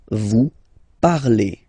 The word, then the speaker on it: parlez: Remember, a Z, when you combine them together, you get the sound E. Vous parlez, all right?